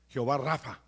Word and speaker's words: Jehová Rafa: Jehová Rafa, así se pronuncia, que significa Jehová tu sanador.